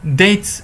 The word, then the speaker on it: debts: Dates معناها ديون الباء لا تلفظ.